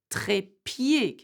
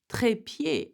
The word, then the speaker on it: trépied: So you would read it as trépied. Can you see that? Tripod. The same sound, E, trépied, or pied, like the foot, okay?